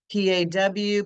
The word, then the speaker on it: PAW: can just go back P A W parents are watching that's actually pronounced as paw which is a true acronym when the letters form